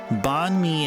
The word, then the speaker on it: banh mi: Banh mi is a sandwich. It's spelled B-A-N-H-M-I. B-A-N-H-M-I.